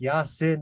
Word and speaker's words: Yanchan: Today, I have a special guest, pronounced Yanchan. I've been saying his name wrong all this time.